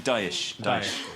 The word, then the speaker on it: Daesh: This is Daesh. Daesh. So it's kind of like what Sean Connery plays backgammon with.